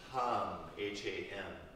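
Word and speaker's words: ham: you exhale, mentally you repeat the syllable hum, H-A-M.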